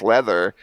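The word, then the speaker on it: Läther: But it's pronounced leather because that was what they were that's what they were they were into leather then.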